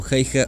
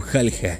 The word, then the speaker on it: Häyhä: es importante aclarar que el apellido de simo se puede pronunciar como jaija o jalja ambas pronunciaciones son correctas por lo que se